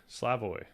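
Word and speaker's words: Slavoj: Uh, Sloooy Slavoy. Oh, okay. Yeah, that that uh that debate was pretty pretty odd if I say so myself. The J in many languages makes the Y sound.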